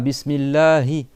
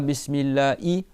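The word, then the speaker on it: بسم الله: Après, tu as le ha. Bismillahi le ha il est en bas de la gorge. C'est bon, c'est une lettre qui existe pas en français. Donc c'est pas bismillahi, c'est pas bismillah i, c'est bismillahi.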